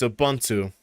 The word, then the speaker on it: Ubuntu: And for those people who got tired of me saying Ubuntu, fuck you, it's Ubuntu. or it's Ubuntu, but I forget, what was it, GNOME or GNOME?